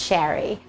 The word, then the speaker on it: Chari: is a little unusual the CH is pronounced like sh so it makes a sh sound and it rhymes with Larry so it's pronounced Sherry thank you for clicking